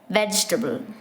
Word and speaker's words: vegetable: in between making it vegetable the spelling seems to suggest four syllables so many people add an i sound in between so you have to